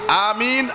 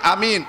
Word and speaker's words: আমিন: আমিন আমিন আমিন আমিন উভয় উচ্চারণ আছে, আমিন লম্বা করে পড়া যায়, আমিন উভয় উচ্চারণে ঠিক আছে, আমিন বলুন বা আমিন বলুন, এর অর্থ হইল হে আল্লাহ কবুল করো।